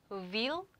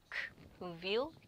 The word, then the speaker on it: Wilk: 발음이 근데 얘는 부 발음이다. 그래서 부, 부 Wilk, Wilk, Wilk 이렇게 늑대.